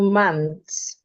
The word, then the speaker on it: month: I was there for two months. But I'd love you to emphasize the th sound in month.